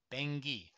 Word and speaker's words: Bangui: Bangui, not Bangui. Bangui. So please forgive me on that. I just wanted to just check. That's why I paused it for a second, just to check the pronunciation.